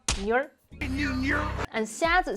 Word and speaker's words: 女儿: 女儿 two syllables. 女儿, not 女儿.